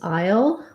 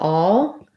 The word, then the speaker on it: I'll: had a question about whether i pronounced the word i'll as i'll or all and i do this one um is more what you would hear in the south in the uh in